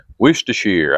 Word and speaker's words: Worcestershire: Worcestershire, I'll get it right. I was saying it wrong, but All right, we'll dump that in there.